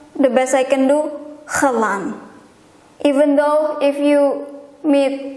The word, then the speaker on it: eiland: Of course, I will try to pronounce it the best I can do, which is Eiland.